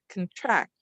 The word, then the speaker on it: contract: And so the unstressed, so if I'm stressing this syllable, we'll say this one becomes the schwa, or it's as if we're barely even saying it's kun. We're going right from the k to the n, contract.